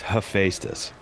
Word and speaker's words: Hephaestus: Can you pronounce my name correctly? It's Hephaestus. Hephaestus.